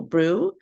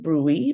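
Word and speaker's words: BRUE: back to this so Brew I know it initially a lot of us will pronounce it Brey but the correct uh way for it to be pronounced is Brew just like you're Brewing something so what is Brew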